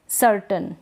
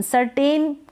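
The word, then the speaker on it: certain: इसी प्रकार से सर्टेन क्या है? सर्टेन। सर्टेन करेक्ट प्रोनाउंसिएशन नहीं है। सर्टेन। सर्टन ए आई यहां पर हम अ पढ़ रहे हैं। ट के बाद में अ का उच्चारण हो रहा है।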